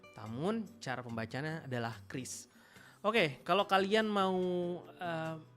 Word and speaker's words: QRIS: Namun cara pembacaannya adalah Kris.